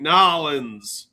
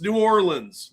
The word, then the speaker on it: New Orleans: Just like Nins. No, it's New Orleans. Look at the spelling. Nins. There's no A in there.